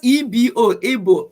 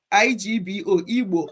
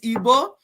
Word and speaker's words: Igbo: spelling if it's evil evil is igbo it's not ebo igbo or some people call it ibo ibo yeah we shouldn't